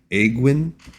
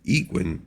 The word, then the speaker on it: Aegwynn: Now, the pronunciation here, some people might say Aegwynn. You could also go with Aegwynn because the word Aegis is A-E-G-I-S.